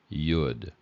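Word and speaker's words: יוד: is silent but otherwise if there's a vowel underneath it then you have to pronounce this as a why sound yud why okay and uh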